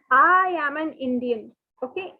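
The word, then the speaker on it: Indienne: And for girls, since there is an extra N and extra E, the pronunciation will be je suis Indian. Je suis Indian. Yen, Indian.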